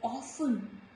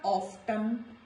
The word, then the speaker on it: often: After F also letter T is silent like often. It is not often, soften, no. This is often, soften.